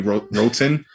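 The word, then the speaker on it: Roten: because this fits perfectly johnny rotten but it's r-o-t-e-n so it might be rotin but it it should be rotten um he's the crew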